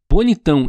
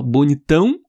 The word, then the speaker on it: bonitão: Eu falo diferente, ó, bonitão, bonitano. A pronúncia é diferente, mas a escrita é igual.